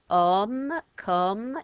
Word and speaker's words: comme: And if you want to say another way of saying it, come, it's got a silent E on the end.